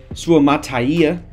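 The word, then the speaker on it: Suamataia: be huge for Detroit 31 we see Kingsley suaya that is that is how you pronounce it I did learn that recently um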